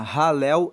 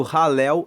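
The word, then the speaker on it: Halel: Ele faz parte de um conjunto de salmos que se chama ralel egípcio. Ralel se escreve H a l e l e ralel significa louvor.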